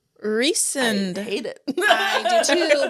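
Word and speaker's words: Rhysand: you say his name so it's spelled r h y s a n d which you would think is Rand it's not it's recent recent hate it I do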